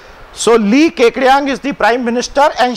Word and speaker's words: Li Keqiang: And Li Keqiang, who is the prime minister. That is the correct pronunciation of this name. Now that's an awkward pronunciation, but that's how it's pronounced. So Li Keqiang is the prime minister and Xi Jinping is